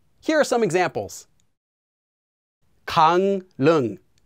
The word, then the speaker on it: 강릉: Anytime the first syllable ends with the consonants 이응 or 미음, those two, and the second syllable begins with the consonant 릴, well, that 릴 will become pronounced as 니은.